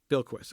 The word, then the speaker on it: Bilquis: How do you pronounce her first name? Bilquis Evely. Bilquis.